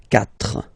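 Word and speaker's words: quatre: So you get this Q-U-A, but then the sound that you will pronounce is K. Okay? 4.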